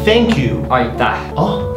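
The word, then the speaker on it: Aitäh: Aita. Oh? Aita.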